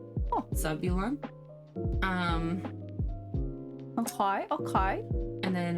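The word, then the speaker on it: Zavulon: It's spelled Z A V U L O N, but I'm pretty sure it's Zabulon with like a kind of a softer B. Oh, Zabulon.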